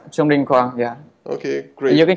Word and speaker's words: Trung Đinh Quang: I'm your host, Gabor Sabo, and with me is Trung Đinh Quang. Hello there. Hi. Hi. Have I pronounced your name properly, or could you? Yeah, it's correct. Trung Đinh Quang.